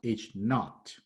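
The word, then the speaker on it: H₀: The null hypothesis is written H with a subscript zero, pronounced H naught.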